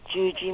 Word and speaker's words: Yuyi: Hello, my name is Yuji Morales. First name is spelled Y-U-Y-I. Confusing, isn't it? It is all because of Spanish.